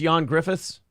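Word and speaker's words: Ioan Gruffudd: spelled all up but it's pronounced John Griffiths is it Mr Fantastic yes Mr Fantastic I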